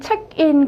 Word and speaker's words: เช็กอิน: 책인 같은 경우에는요. 영어 외래어예요. 순수 태국어가 아닙니다. 자 어떻게 자 성도 높나지는 어떻게 하고 어떻게 발음하고 발화하는가? 책 책 같은 경우에는요. 자, 단음절의 삼성 짧게 올라가 주십니다. 책 책. 그리고인 같은 경우에는 단음절의 평성 인.